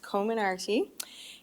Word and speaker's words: Comirnaty: i actually looked it up and it is pronounced common arty and the name actually comes from several pieces